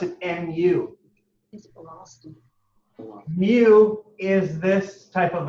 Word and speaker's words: nu: it's it's the sign for velocity and they pronounce it nu mu is this type of a symbol all